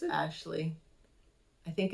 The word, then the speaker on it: Aisling: I thought it was Aisling. Well, it's spelled Aisling, but Yeah. it's Is that how you pronounced pronounce it? Ashley.